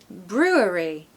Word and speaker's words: brewery: the first word through we need Brew ooh same sound okay with a b r strong R Brew brew now it gets difficult w w sound with awah W the third syllable is just re re like a double e with an R Brewery Brewery Brewery when I lived in